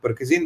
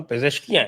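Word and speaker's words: پزشکیان: था Sanjay sir, they will not touch Mohammad परकजीन because he कैन be used. और अगर आप खुमैनी का स्ट्रक्चर देखिए, परकजीन नहीं है, उसका नाम पेजेश्कियान है, पेजेश्कियान, maybe my pronunciation is not so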